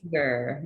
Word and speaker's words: Fanger: How do you pronounce it? Fanger.